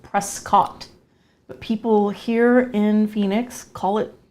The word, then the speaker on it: Prescott: We're going to go to a place called Prescott, which is spelled Prescott.